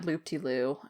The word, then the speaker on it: loopdeloo: is on Twitter at loopdeloo, and that is spelled LOPDILOU. That almost sounds like a jingle for like a 90s food product. It's literally, here we go loop-de-loo.